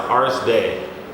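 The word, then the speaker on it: Ars Dei: It's pronounced Artist Day. Okay. So the E give you a high pitch, so it's day. And Ars is Latin for art. Day is Latin for God.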